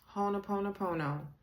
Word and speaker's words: Ho'oponopono: So, Ho'oponopono. That would be Ho'oponopono. This is how it's spelled.